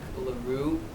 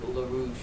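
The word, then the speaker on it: LaRoux: completely butchered lak's name apparently it's lilac Laro and in my mind it's lilac larouche so forgive me so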